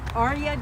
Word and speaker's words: Arya: Arya dances with swords, and Arya is spelled from Game of Thrones.